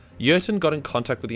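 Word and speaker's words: Jurten: the name of colonel yerton starts with a j but because he's german the j is silent urton got in contact with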